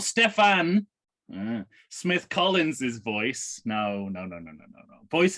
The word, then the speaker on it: Stefan: I love how I keep saying his first name wrong every single time. Every single fucking time. I can see it says Stefan, and I'm still saying Stephen.